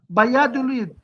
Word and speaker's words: Valladolid: ايش تلفظ كما هي بالاسبانيه بيادوليد، الدبل ال اي تلفظ.